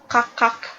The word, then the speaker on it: kakak: K atau kakak. Tapi ketika diucapkan, K-nya tidak usah diikut diucapkan, hanya kakak. Demikian untuk bapak dan kakak.